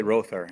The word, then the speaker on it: Rother: And, or is it Rother? Do we say Rother? We say Rother. Yeah, his family. Yeah, well, we'll go with how they say it in the great state of Oklahoma.